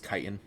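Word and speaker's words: chitin: techn I mean depending on where you're from it's kitan but kitan and uh mucus and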